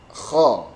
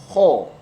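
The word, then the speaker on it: خ: Ha kha. Tidak kho ya. Beda. Jadi mulut tidak kho tapi kha. Tidak A. Tidak seperti A, tidak kha tapi kha.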